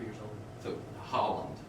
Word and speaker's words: Holland: So Holland, right? Is that how you pronounce That's it?